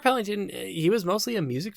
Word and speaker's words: Pellington: directed by mark pellington but i kept saying mark pellet peloton um so mark pellington he was mostly a